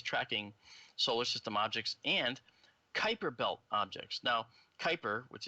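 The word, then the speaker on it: Kuiper: that are always tracking solar system objects and Kyper belt objects now Kyper which is Ki p r that's actually pronounced Kyper the Kyper objects um might have very large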